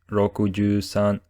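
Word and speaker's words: 六十三: used to say numbers like 63 which is pronounced rokuju Sun 42 or yonjuni and 13 or foreign you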